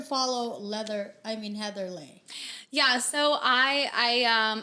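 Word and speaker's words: Leih: business but you can follow me at heather lay my last name is spelled l e l-e-i-h there is no g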